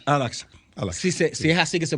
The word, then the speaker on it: Al-Aqsa: Hay una mezquita ahí, la mezquita de Al-Baqwa, creo que es. Al-Aqsa. Al-Aqsa. Sí, es así que se pronuncia.